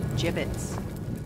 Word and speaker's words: gibbets: dead end hey look Aver he had some gibbets left over jibbitz what it's pronounced jibbitz are you sure yeah well no one likes